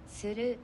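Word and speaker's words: する: đằng sau này, thì đừng có nói là sư rư nhá. Cái từ sư rư thì là rất là nhiều, gặp rất là nhiều trong cuộc sống. Thì mọi người nhớ cho em cái phát âm này nhá.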